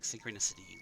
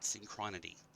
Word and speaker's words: synchronicity: So I knew what a word like synchronicity looked like. I knew what it meant, and I could understand it in context. But for the longest time, I pronounced it synchronity.